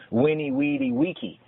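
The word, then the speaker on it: veni, vidi, vici: But in Old Latin, it was winnie, weedy, wiki, like Wikipedia.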